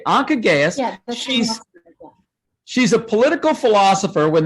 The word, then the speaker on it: Anca Gheaus: speaker um is uh i'm never quite sure how to say it i think it's anka gaius is that right anka okay anka gaius she's a political philosopher